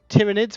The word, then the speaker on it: tyranid: kelly stamped version but both have been used tyranids when i was when i was allowed to